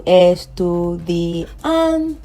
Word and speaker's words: estudiante: That is the last but one syllable. So I cannot say estudiante. I cannot say estudiante. I cannot say estudiante. I cannot say estudiante. But I'm going to put the stress or the pitch on the last but one, which is the an. Okay, so estudiante.